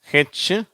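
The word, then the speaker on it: who: வாசிக்கும்போது நீங்களும் புரிஞ்சுக்குவீங்க சரியா இங்க whக்கு ஹு என்ற உச்சரிப்பு வரும் வார்த்தைகள் ஹூ சரியா அங்க அந்த வு என்ற உச்சரிப்பே வராது ஹூ ஹோல் சரியா இது ஹோல்னு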